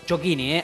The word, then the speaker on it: Ciocchini: Estamos aquí con Chocchini, así se pronuncia, difícil, que es pero así.